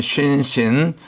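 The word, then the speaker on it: שׂין: 우리가 겸손해야 되지요 그다음에 신신 요거는 한 글자인데 점이 오른쪽 가면 쉰 왼쪽으로 옮겨가면 신 발음상의 강력이 좀 차이가 나고 이빨 모양이니까 영적으로는 재와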